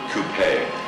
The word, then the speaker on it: Coupe: magnificent original 36 Cadillac Coupe rhymes with twoe sitting right out front